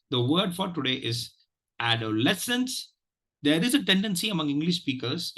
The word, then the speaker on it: adolescence: to you know to uh stress the second syllable and I told you why it is not stressed so please practice this word add a lessons and uh just just something before we go